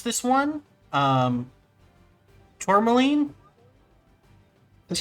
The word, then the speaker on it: tourmaline: And I don't know how to pronounce this one. Tourmaline?